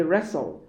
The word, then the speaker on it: wrestle: C and D both have silent T. Mortgage. Mortgage. And D. Wrestle.